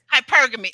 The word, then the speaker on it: hypergamy: all for hypergamy uh am I saying it right Jeremy no okay how do I how do I say it it's hypergamy oh Lord I knew I